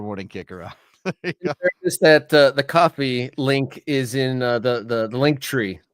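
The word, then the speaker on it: Ko-fi: So So we went you went from Kofi like it's not Kofi, it's coffee and then you went to coffee which doesn't look right.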